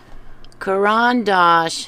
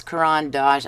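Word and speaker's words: Caran d'Ache: Almost everybody says Caran D’Ache. All the YouTube artists I've watched say that.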